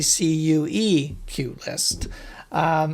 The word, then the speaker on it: QList: QList, even though it's spelled QList, is actually a CUE QList.